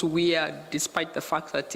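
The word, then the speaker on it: WEAI: it's called the weir because it's pronounced we are despite the fact that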